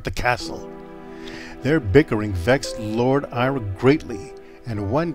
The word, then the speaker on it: Vechs: Lake sounds really good Vex is also how to pronounce Vex not vetes or Vicks or vites crazy YouTube people